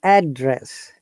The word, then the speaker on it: address: yeah address address address actually it should be address because it is noun when it is used as verb then it becomes